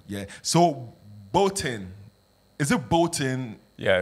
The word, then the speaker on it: Bôhten: k came up with with a flip which was Bolen with the accent on the top and it just rolled off the tongue better yeah yeah but that's that's that's the it sounds like some bull yeah bolon it's got a ring